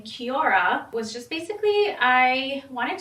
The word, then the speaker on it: Kiora: So basically a timeless wardrobe, and Kiora in my native language means time, and how you would actually say it in Chamorro is Kiora, but it's spelled K-I-O-R-A.